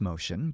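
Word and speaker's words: Motian: it's spelled m-o-t-i-a-n uh it's pronounced motion but that's how it's spelled and that's not the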